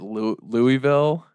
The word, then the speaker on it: Louisville: No, it was he pronounces it Louisville.